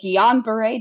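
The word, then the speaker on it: Guillain-Barré: the shingri doesn't care they over pronounce it because it is a it was named after a French cut so G they say it really like uber French and um it's like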